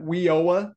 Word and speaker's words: WIOA: Innovation and opportunities act we pronounce that weoa sometimes we're going to discuss